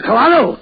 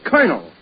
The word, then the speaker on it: colonel: In military parlance, C-O-L is pronounced Cur, as in Colonel.